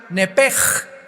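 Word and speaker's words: נפש: en el hebreo es nepesh, se pronuncia nepej, la CH en hebreo se pronuncia como J, nepesh, murió.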